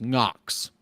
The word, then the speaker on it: Knox: tell me he goes knocks yeah bro yeah that's about the only name that starts with a silent k k names bro I